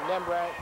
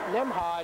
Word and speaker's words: Nembhard: Pinero to Nembret. Off-balance shot by Roland Scott. Nembhard is the pronunciation of the name. I believe I've been saying it wrong.